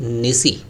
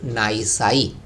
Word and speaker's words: nisi: 26 पर हम लोग विचार करते हैं, वो क्या है, व्हाट इज़ रूल निसी या व्हाट इज़ रूल नाइसाई। दोनों तरह के प्रोनाउंसिएशन यहाँ पर किए जा सकते हैं।